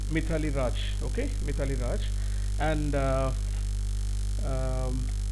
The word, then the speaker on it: Mithali Raj: Let us take the case of what we call actually Mithili or Maithili, whatever you go, according to the place you can do it. So Mithili Raj, okay, actually I'm not okay, pronouncing it clearly. Okay, normally we call it Mithali Raj, okay, Mithali Raj, and